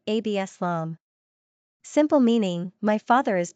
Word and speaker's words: Absalom: Number of syllables, 3. Ranking popularity, not applicable. Pronunciation, AB-sə-lahm.